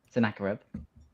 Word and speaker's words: Sennacherib: Sennacherib.